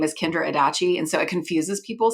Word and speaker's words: Adachi: well my name is kendra adachi it rhymes with hibachi um i am married